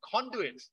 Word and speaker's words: conduit: sometimes called conduits right please uh pronounce it beautifully with your thai people pronouncing honduran so i don't know who is going to suck one pandu it's horrible it's conduit which means it's like a